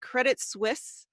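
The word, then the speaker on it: Credit Suisse: 20 years at uh is it credit Swiss am I saying it correctly yeah is perfect okay um most recently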